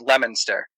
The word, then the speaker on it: Leominster: Or another town called Leominster, pronounced completely different from how it's spelled. It's spelled Leominster, but we call it Leominster.